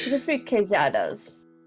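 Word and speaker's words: queijadas: Yeah, it's supposed to be kadas. Ah, okay. Kadas, which is the Brazilian Portuguese way of saying it.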